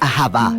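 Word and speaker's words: אהבה: como lo es en el hebreo antiguo se pronuncia ahaba su significado básico se refiere a la clase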